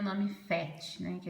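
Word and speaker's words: PhET: Esse FET ou PET, acho que é FET que pronuncia, né?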